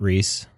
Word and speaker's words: Rhys: The other guy, that's Kerry Russell, I'm sorry, and Matthew Rhys. Am I saying his name right? Rhys? He was in... I never heard a correct pronunciation. I've always called it Reese, but...